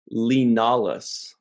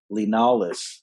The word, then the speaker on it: Li Nalas: they spell it but it sounded to me like they kept saying leonidas oh you know what his name is li nalas linalis that is not at all